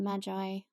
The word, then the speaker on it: Magi: Henry because we already talked about him on one of our previous episodes, The Gift of the Magi, I don't know how you say it.